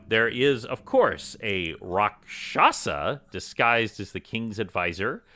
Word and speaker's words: Rakshasa: Want to note that I totally knew that it's pronounced Rakshasa, and not Rakasha, as I was saying before, that James very kindly pointed out to me.